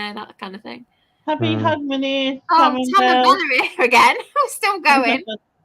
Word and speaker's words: Hogmanay: Hogmanay, that's how you say it.